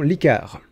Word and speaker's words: Licares: sponsorisée par la formation licard ok alors la dernière fois qu'on en a parlé je me suis trompé dans la prononciation de la formation j'ai prononcé licares mais c'est bel et bien licar donc mon petit défi